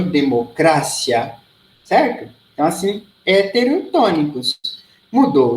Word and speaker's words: democracia: diferente heterotonicos por exemplo em português a gente diz democracia em espanhol democrácia certa a se heterotonicos